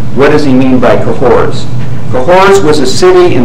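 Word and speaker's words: Cahors: Comedy and he says both Sodom and cohor cahor is spelled c a h o RS both Sodom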